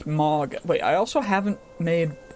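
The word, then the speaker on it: Mawga: Unfortunately, that is not a option because of the fishes, the Mauga, M-A-W-G-A is how that's how it's spelled. It's not like M-A-G-A, it's Mauga.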